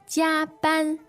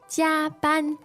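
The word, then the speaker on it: 加班: Jia ban. Jia ban. Two first tones, and literally if you break this word down, it's pretty interesting.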